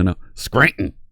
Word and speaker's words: Scranton: Scranton Pennsylvania don't say don't pronounce the T in there there is no teen Scranton no no Scranton that's where you head